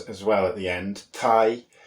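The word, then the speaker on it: thie: well at the end Tai Tai is the manx word for house which is again it's written t-h-i-e Thai quite phonetically whereas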